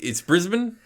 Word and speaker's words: Brisbane: It's Brisbane. Yeah, I want to say Brisbane, even though it is spelled Brisbane. All I know, think it's Brisbane.